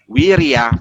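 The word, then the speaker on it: virya: Ya, kalau tulisan nya ini dalam Sanskerta V, tapi bacanya W, wirya paramita.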